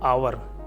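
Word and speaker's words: hour: पहले भी देखा था, आवर, एच साइलेंट है, ठीक है, एन आएगा।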